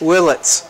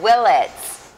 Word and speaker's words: Willitts: Willitts. Oh, Willitts.